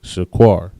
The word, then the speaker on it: shaquar: And that word in the Hebrew is shaquar. Shaquar. Shaqua and ra, shaquar. Next word we have up is valley.